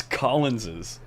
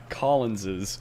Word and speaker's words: Collins's: confused if you if you write the possessive version of my name right like possibly after this yeah it's after the yes but how do you say it i'm not going to sound stupid on stream you say it's collins's collins's but you just you write it c-o-l-l-i-n-s apostrophe but you say collins's you don't go s